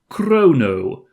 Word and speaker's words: Crono: the name of this protagonist is in fact Crono not no h there mysteriously so I don't know if you're supposed to really pronounce it like Crono default the Chrono that